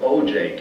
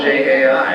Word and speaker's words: Ojai: But I called, and I remember I got an operator, and I called it OJ, California. How do you pronounce O-J-A-I? And she laughed and corrected me and said it's Ojai.